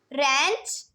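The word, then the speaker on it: wrench: है यह साइलेंट है रेंच डब्लू साइलेंट हो गया रिंकल्स डब्लू साइलेंट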